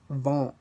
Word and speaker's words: vent: The consonants at the end of the word aren't usually pronounced. Consider these examples: l'argent, l'argent, vent, les fruits, les fruits.